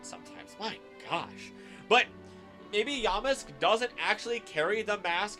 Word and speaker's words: Yamask: yisk or yam mask I'll say it right for you but yamus sounds better on my mouth tongue lips thing um I talk like an alien sometimes my gosh but maybe Yamask doesn't actually carry the